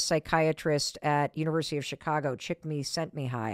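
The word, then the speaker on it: Csikszentmihalyi: at University of Chicago chick me sent me high I think is how you say his name and activation energy is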